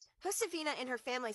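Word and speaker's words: Josefina: Hosaphina. Hosaphina and her family speak Spanish, so the J will sound like an H.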